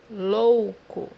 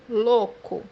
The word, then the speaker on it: louco: مثال عندنا كلمة مجنون بمعنى louco, louco, زي ما انت شايف في كلمة لوكو، المجموعة الحرفية ال A وال U مع بعض في السيلابا لوحدهم أو في جزء لوحده في الكلمة بدون فصلهم. لوكو.